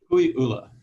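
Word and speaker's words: Kukuiʻula: I mean, I have to say, listening to you, your property you pronounce it Kukui'ula, or how do you pronounce it? Kukui'ula.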